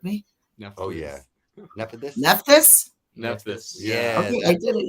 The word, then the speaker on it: Nephthys: I wanted to know, I can't pronounce this one for the life of me. Oh yeah, Nephthys. Nephthys? Nephthys.